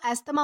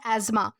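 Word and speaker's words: asthma: जैसे कि जो एस्थमा होता है, दोस्तों हम इसे एस्थमा प्रोनाउंस करते हैं लेकिन इसका असली प्रोनाउंसिएशन होता है एज़मा।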